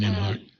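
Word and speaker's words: Nembhard: I read Collective Courage, and then I was like, wow, that is the book by Jessica Gordon Nimhard. That's how you pronounce it. Jessica Gordon Nimhard. Yes. Nimhard, yes.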